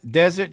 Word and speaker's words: desert: Desert sounds a little bit different. The second sound looks a little bit different than dessert. Okay. Dessert, Dessert. desert. Yeah, a little bit different sound on the second syllable.